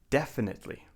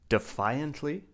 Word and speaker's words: definitely: Definitely. Now be careful. We do not say defiantly. That's a different word. We say definitely.